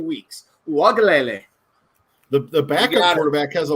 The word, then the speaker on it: Uiagalelei: This is my first chance this year to get this name wrong, and it's not going to happen. DJ Uiagalelei. That's why I stuck with DJ, because I couldn't have done that. I know, but Uiagalelei.